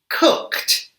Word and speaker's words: cooked: Jumped, cooked, and washed. Can you hear the T sound at the end of the word? Why do these past simple verbs make a T sound?